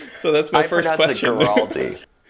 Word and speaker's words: Guaraldi: Guaraldi. Yeah, with a hard G. Guaraldi, hard G. But in Guaraldi. Italy, they pronounce it Guaraldi.